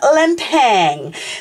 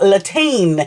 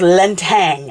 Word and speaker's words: Lintang: I've been saying Latine, so I've been missing out that Lan, and I've been saying the last bit wrong, so it's Lintang.